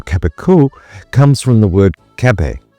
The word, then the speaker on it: Cabécou: Depending on the Occitan dialect you're listening to, you might hear it pronounced differently. Cabécou in the Rouergue dialect, or Cabrio in the Rouergue dialect.